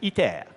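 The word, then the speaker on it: ITER: was pretty good now this is e pronounced in French e so this is a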